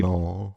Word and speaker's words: Turin: Torino. Yeah, it's Torino. I know, but I don't think it's pronounced like this Yeah, I in, think it's in Turin.